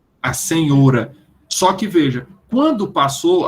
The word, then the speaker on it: senhora: século 20 é que senhora passou a ser pronunciada com o aberto e não fechado a arrumar é uma